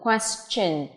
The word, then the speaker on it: question: Thông thường thì T-I-O-N được phát âm có thể là shin này, nhưng cũng có lúc chúng ta đọc là chen. Ví dụ từ question thì chỗ này nó là phát âm là ch nhé, âm ch.